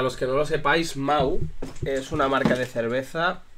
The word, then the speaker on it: Mahou: Y entonces que se escribe Mahou, M-A-H-O-U. Y nada, y hace un juego de palabras con que Mau suena igual que Mau de Mauricio.